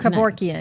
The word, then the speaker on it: Kevorkian: Kevorkian. Kevorkian. Thank you. I thought I was getting the last name wrong, but No, you got it right.